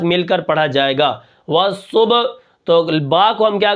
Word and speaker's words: والصبح: کس طرح پڑھیں گے، واو صاد زبر والصاد، با پیش صبح، والصبح، حا زیر حی، والصبح، وقفا والصبح، ٹھیک ہے۔ اب یہاں پر